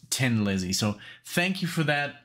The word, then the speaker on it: Thin Lizzy: letting me know because i basically was saying thin lizzy so now i know it's 10 lizzy so thank you for